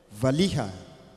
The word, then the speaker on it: valiha: voilà cet instrument s'appelle valiha on prononce Vali mais pour écrire c'est Val Vali d'accord donc ça c'est